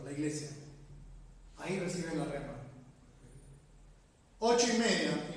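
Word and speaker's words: ῥῆμα: Con respecto a cómo es una rema, cómo recibe la rema. La palabra en el griego J-R-E-M-A, rema.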